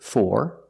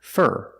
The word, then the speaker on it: for: sometimes we pronounce it four like door and more and sometimes we pronounce it fur like Burger closed R sound fur let's find out